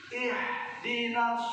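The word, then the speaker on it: اهدنا: ihdinas siratal mustaqim. Ada yang salah nggak? Mana yang salahnya? Ha dibaca ha. Harusnya ihdina, ini bacanya ihdina. Itu bahkan bisa membatalkan sholat.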